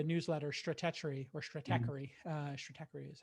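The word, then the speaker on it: Stratechery: know the the newsletter strategy or strategy uh strategy is how you pronounce it ben thompson's you know it's he's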